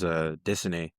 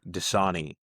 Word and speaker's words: Dissany: He's not dead or anything, but everyone would pronounce his name like every time we had a substitute teacher, they would see how his name was like spelled, and they would just Uh-huh. say Dasani, Oh, like the like the water.